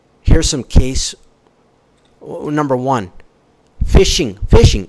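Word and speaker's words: phishing: Fishing. Fishing. You know, email fishing. It's phonetically pronounced the same, spelled different.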